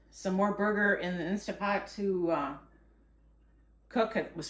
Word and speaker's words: Instant Pot: is why I like my insta pot instant pot I always pronounce it wrong you just want